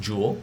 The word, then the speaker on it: joule: from that named after joule right and that's pronounced joule j-o-u-l-e right the le the letter for the